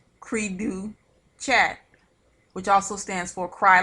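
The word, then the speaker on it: cri du chat: syndrome that is caused by deletion is is pronounced creedu chat which also stands for cry like a cat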